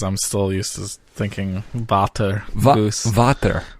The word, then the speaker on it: Vater: Most people know how to spell goose, but Fata is V-A-T-E-R because we're pronouncing it German, but the spelling is with a V, just Correct.